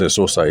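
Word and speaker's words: Eseosa: So, uh Esosa, but sorry, Esosa, but her Esosa Even though it's pronounced Esosa, it is spelled E S E O S A.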